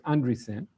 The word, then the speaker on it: Andreessen: I looked up how to say the guy's name. It's Andreessen.